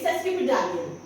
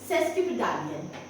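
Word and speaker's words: sesquipedalian: सा लंबा है एंड हाउ आर you going to pronounce it's यू are going to से सेस्क प डालियन सेस्क प डालियन सेस्क प डालियन द प्रोनंसिएशन इ सेस्क प डालियन the spelling is एस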